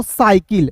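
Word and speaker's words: cycle: देखिए दोस्तों यहां पे सी वाई सी एल ई तो इसे हम लोग क्या पढ़ेंगे दोस्तों साइकिल देखिए सी वाई स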